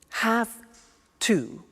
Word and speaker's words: have to: computer at work now did you hear my pronunciation I have to notice I don't say V I say F have half it becomes half to have the two becomes in pronunciation have to have two okay so I have to use